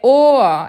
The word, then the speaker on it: Ohr: Tem gente que pronuncia or, tem gente que pronuncia or. É Ohr, é como se tivesse um azinho no final.